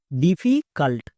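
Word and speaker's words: difficult: Next CU কা, কেন? আমরা জানি ইউ এর পাশে পরপর দুটো কনসোনেন্ট থাকলে ইউ এর জন্য আকার উচ্চারণ হয়, তাই CU কু কিন্তু না, কা।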